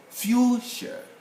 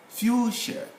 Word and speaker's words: fuchsia: we have come across two ch cases which are also silent and these are flower you know we should say fuchsia fuchsia that's the flower same with americans also